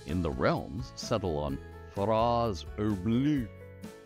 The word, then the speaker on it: Fraz-Urb'luu: Again, it's not easy to say, so you will hear variations. FRAZ-URB'LUU. FRAZ-URB'LUU. FRAZ-URB'LUU, because it's easier to jump on the closing syllable and give it some sort of emphasis. It makes it easier to say, but FRAZ-URB'LUU. So you got to move your tongue around. If you have a tongue, it's FRAZ-URB'LUU.